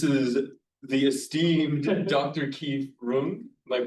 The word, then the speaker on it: Runge: Keith Rung. Am I pronouncing your Rungi is how we get we say Yeah.